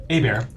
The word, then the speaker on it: Mara: in a bear oh hey Mara rhymes with hey there it's gonna take some